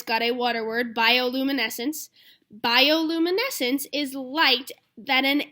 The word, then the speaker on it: bioluminescence: guys can say that bioluminescence bioluminescence and it's got a pronunciation guide by Oh loom a neck since bioluminescence some creatures use their